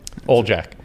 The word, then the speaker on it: Oljaca: i i can we say your last name ole jack yeah i asked him if his name it's it's spelled like a o-l-j-a-c-a and i said is